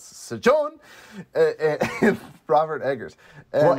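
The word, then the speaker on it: Sjón: It's S-J-O with an accent. N? Sejon? Sejon! Sejon! S-John? S-John! It's got an exclamation point, so you're supposed to, really emphasize the O. So it's Sejon and Robert Eggers.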